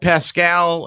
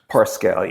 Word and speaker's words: Parscale: has never happened did pascal is that how you pronounce his name parscale yeah yeah did did he steal